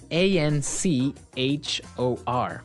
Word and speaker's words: anchor: Now, it's spelled a n c h o r, right? But you don't pronounce the ch as you normally would, right?